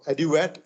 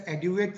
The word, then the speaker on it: Aduate: Aduate, is that the correct pronunciation? Yes, I also get confused how to pronounce this fund, but it's Aduate.